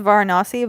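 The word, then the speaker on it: Varanasi: Vanasi is the dirtiest place. My friend had a nickname for it. It's um it's pronounced Vonasi, but my friend calls it very nasty.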